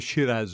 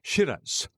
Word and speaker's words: Shiraz: red weepings of the Shiraz vine, which rather looks as if he pronounced it Shiraz, whereas the real sound is Shir.